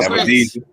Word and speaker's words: Avedisian: Let's see if he's successful with David Avedisia and whatever successful with Spence. Whatever he decides, as long as it's in 147. Yeah, what you say his name was? Spence. No, Avedisian.